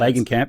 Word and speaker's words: Langenkamp: so I appreciate this is bringing back Heather Langenkamp. Nice try. Is that how you pronounce the name? Yep, And Langenkamp, yep.